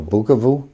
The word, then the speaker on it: Bukavu: okay and then bakum I'm sorry bukum oh bukavu bukavu pronunciations aren't matching up oh b u KU